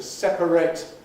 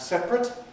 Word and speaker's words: separate: other examples of this the verb and adjective to separate and separate pronounced differently but spelled the same and then if we